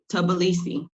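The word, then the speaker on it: Tbilisi: jordan i mean wanda how do you pronounce t is it tb sybee it's tobilisi oh way the off tibilisi thank you for that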